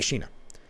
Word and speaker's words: Shenna: a little bit here main secretary of state shenna is that how you pronounce it Sheena it's got be Sheena Bellows I only I've only seen it r